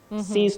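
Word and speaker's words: cease: it is AKA weo you say C's c c a c e a s e CES to exist C then to grab something you say to CES that is s e i z e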